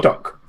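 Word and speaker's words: Tok: Doc. Like Tuck Tuck, but with more O's and less U's.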